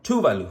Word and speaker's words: Tuvalu: legal tender denomination from tuvalu if you're ever curious how do you pronounce that it's Tu Valu then that classic beautiful